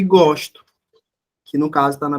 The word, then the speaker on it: gosto: Por exemplo, gosto, aliás, gosto, que é um substantivo, e gosto, que no caso está na primeira pessoa do singular, que é o verbo gostar. Observem aí, ó. Eu só mudei a forma que eu pronunciei, ó.